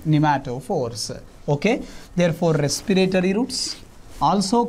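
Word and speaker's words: pneumatophores: They are also called as nematophores. P is silent. Here P is silent, right? P is a silent nematophores.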